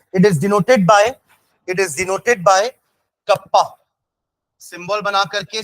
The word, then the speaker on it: kappa: ठीक है, pronounced as कप्पा.